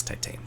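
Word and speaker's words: Titane: this other movie called titan or sorry it's french for titanium so it's like titan whatever um i say it as titan because that's how it's spelled and when i say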